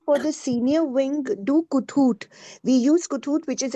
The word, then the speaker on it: Kahoot: Actually, I had referred to, I didn't know it was pronounced Kahoot. I was pronouncing it wrong.